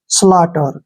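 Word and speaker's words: slaughter: रूप में लिखते हैं और यू जी एच यहां पर जो है ये तीनों साइलेंट रहेंगे जब भी टी से पहले यू जी एच आता है वहां पर यू जी एच तीनों ही साइलेंट हो जाते हैं तो इसको हम छोड़ देंगे और टी का उच्चारण ट करेंगे ई आर का प्रोनाउंस हम र लिखेंगे ऐसे स्लटर क्या पढ़ेंगे इसको स्लॉटर स्लटर का मतलब होता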